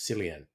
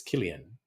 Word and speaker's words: Cillian: When I first saw his name when he was first coming out in acting, I thought it was Cillian. I found out it's Killian.